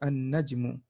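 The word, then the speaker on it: النجم: So here they're saying, all of them starts from we ignore the alif lam, the lam here, right? So it's an-najmu, okay?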